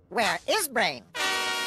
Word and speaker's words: WereBrain: tell all grar penny it's pronounced where is brain and that's a good